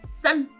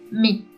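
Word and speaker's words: 三: Su pronunciación onyomi es san y su pronunciación kunyomi es mi.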